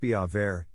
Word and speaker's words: Biewer Terrier: what's a viewer terrier dog a viewer terrier pronounced be avair is a small teacup